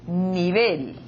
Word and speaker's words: nivel: La segunda palabra en portugués, nível. En español, nivel. Nivel. Inclusive, se nós tivéssemos a palavra nível pronunciada com a mesma sílaba tônica na língua espanhola, nós teríamos essa palavra acentuada.